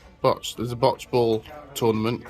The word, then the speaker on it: Bocce: We just finished off our eating and realised there's I don't know how to pronounce it, Bocce, B-O-C-C-E, what's that? B-O-C-T-E. What? B-O-T-T-E. B-O-C-C-E. What is that? Botch.